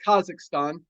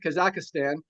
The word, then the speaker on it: Kazakhstan: good friends in kazak as he pronounces it I call it Kazakhstan he calls it kazakistan um I don't know what the correct one is but Medina Musa